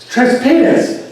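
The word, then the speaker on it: Tres Pinos: The place south of there is Tres Pinas. That's what it's called. That's how it's pronounced.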